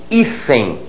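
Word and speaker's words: hífen: Quando eu digo ifen, eu tenho esta sílaba tônica, tá aqui sublinhada, ifenem é, portanto, uma paróxica, terminada na letra N, ganha acento.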